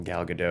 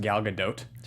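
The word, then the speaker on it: Gal Gadot: and happens and then of course the beautiful galado driving away you know what I've heard is actually that it's pronounced galgadot know I know but like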